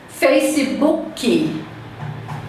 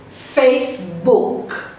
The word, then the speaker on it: Facebook: Facebook. O K termina na garganta. Eu não vou pronunciar Facebook.